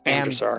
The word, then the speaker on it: Drashar: Drashar. Pretty sure it's pronounced that way. Andrew, the emphasis is on the first syllable, so it's Andrasar.